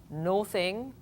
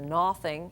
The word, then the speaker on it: nothing: we have this word it's not no thing or nothing it's nothing uh so it sounds like the short u sound oven uh sort of